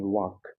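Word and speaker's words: walk: वाल्क नहीं वॉक।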